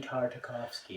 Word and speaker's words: Tartakovsky: right again beat I said it right Danny Tartakovsky yes Andy Tartakovsky mace Windu in that Clone